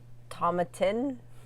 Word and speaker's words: Tomatin: we got to check your pronunciation. Oh no. It's a Highlands Scotch. Yes. Spelled Tomatin. Tomatin.